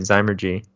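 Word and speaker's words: Zymurgy: No, actually we said it right, Zymergy.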